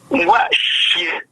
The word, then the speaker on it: Ngwashe: Ngwashe prononce comme je le dis là.